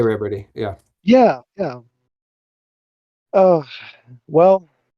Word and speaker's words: Ribordy: It's French, and yeah, that's about it. It's French. That's all the Riberty lore. See, there I mispronounced it.